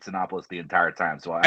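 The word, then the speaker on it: Cinépolis: to even pronounce this I thought it was copoulos but it's it's c i n p o l i s I I lived in Southern California forever I called it synopis the entire time so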